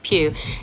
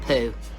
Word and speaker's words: Pugh: say like that Florence pew it's like Hugh but with a P no it's not pug her and no it's not puh I know it's tempting